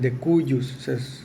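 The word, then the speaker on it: de cujus: la persona que falleció el de cuyus Así se pronuncia es una palabra latín Entonces evidentemente él es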